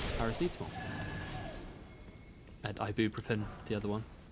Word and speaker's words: paracetamol: I will say Paracetomal. Paracetomal is, of course, the well-known painkiller, paracetamol.